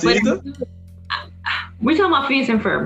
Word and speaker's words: Phineas and Ferb: Help me out if I pronounce this wrong. Phoebus and Fiber. Phineas and Ferb. There you go.